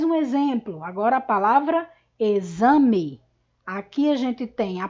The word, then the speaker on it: exame: uma mudança na escrita a palavra exame é escrita com a letra x mas na nossa pronúncia e este x tem o som do fonema z então nós representamos os